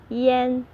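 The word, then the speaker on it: 烟: if you if you say yen that's a cigarette yen that's a salt so if you go to a shop and you want to get cigarette and they will give you salt if you pronounce the if you pronounce the um tone wrong and if you want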